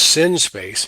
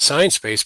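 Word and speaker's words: Sinespace: i came looking at i'm going to keep using shoe lane's pronunciation sin space i love it it's sin space yes um not science space but sin space is that it also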